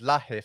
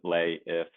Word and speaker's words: Lahiff: I thought it was Lahiff or something like that. So, Everyone thinks what that's what it is. Yeah, do they? yeah. It's like the H is silent. Lay if it's a tough one.